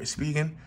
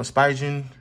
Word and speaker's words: Spigen: to use right here spigen or spigen however they want to pronounce it it's actually one of